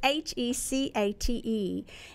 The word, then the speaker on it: Hecate: I referred to and I've been told how to pronounce this because it reminds me of Princess Bride Hecate or something like that police make fun of it but it's a chi CA te and she's the Triple